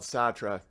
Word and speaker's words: Sartre: remember yes art yeah but it's spelled Sartre SAR tre I'm not gonna say Sartre but what was the